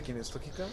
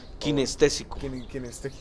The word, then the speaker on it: kinestésico: ¿Kinestógica? Kinestésico. ¿Cómo es? Kinestésico.